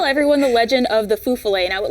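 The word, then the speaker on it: fifolet: So I got to tell everyone the legend of the fufale, and I would like to point out that I thought it was pronounced fifale at first, but I interviewed a former folklore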